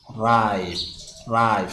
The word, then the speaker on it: ripe: lagu daro silent e ne wuxuu isku bedelaa ripe so ida lagu dhawaaqayo laakiin muxuu sameynayaa I